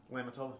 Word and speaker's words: Lamitola: Am I pronouncing that correctly? Lamitola, you got it.